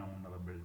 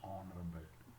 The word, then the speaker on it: honorable: But while we pronounce that word, that H remains silent and we listen to the next vowel sound.